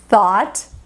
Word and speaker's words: thought: aqui é de ouro a pronúncia é simplesmente o t para todo mundo apenas isso é só escrita que